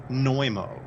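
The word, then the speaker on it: Znojmo: Republic that's incredible also it's called noo and I'll spell it for you because it's kind of got a unusual spelling you spell it z n o j as in Jacob m o noo and the catacombs supposedly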